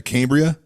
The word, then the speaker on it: Cambria: the Executive Vice President of it at uh Cambria did I pronounce it right is it Cambria you absolutely did John thanks for having me